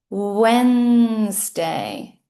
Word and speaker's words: Wednesday: This has a couple of silent letters we could say. It is not Wednesday. It's Wednesday. Wednesday.